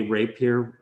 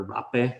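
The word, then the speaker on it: rabe: Those are from Puglia, and they make these with broccolini, like these broccoli, I think it's called broccoli rapier, or rape is actually how it's pronounced.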